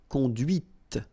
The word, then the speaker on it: conduite: And that's when you hear the difference between conduit, because remember, final T is not pronounced, conduit, here, and then the feminine, conduite. Okay, so here you can listen to this t, t, okay?